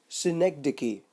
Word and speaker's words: synecdoche: How it is pronounced? Synecdoche. Synecdoche is when a part represents the whole or the whole is represented by a part.